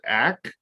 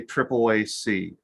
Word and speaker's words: AAAC: Some people pronounce it ACT, and some people prefer to say AAAC. Both are acceptable.